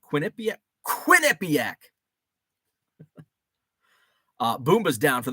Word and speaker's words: Quinnipiac: I get off uh John says first syllable of Quinnipiac Quinnipiac Quinnipiac uh boombah's down